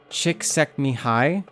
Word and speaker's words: Csikszentmihalyi: I am fairly sure that it's pronounced Csikszentmihalyi. but CSIKSCENTMIA.